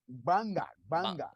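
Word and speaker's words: Gbarnga: Barngna? How do you pronounce your institution? It's Banga.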